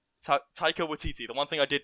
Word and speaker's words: Taika Waititi: Bryce Dallas Howard will be directing as well, and then we also have another director that you guys may have heard of, Taika Waititi, will be Oh directing yeah.